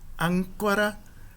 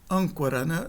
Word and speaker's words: âncora: Nós não pronunciamos âncora, mas âncora. O N não é pronunciado e o A é nasalizado.